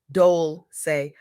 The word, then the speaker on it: Dolce: Welcome to the Soft Girl Era podcast, hosted by LeAnne Dolce, pronounced Dole, say, like sweet softness whispered in French.